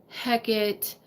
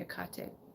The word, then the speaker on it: Hecate: with you is so Hecate heck it whatever whatever your custom to calling her for me the H is silent so I say a cocktail okay but having she's